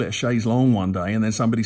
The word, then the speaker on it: chaise longue: of the phrase, but I'm calling it a chaise longue, whereas if I was actually using the French pronunciation, I'd be saying chaise longue. I'm actually anglicising the first word and preserving the French in the second word.